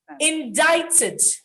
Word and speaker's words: indicted: salmon not salmon salmon indicted indic ted indicted he was indicted in the 800 million dollar power probe it's indicted not indicted the k sound is silent indicted now in nigeria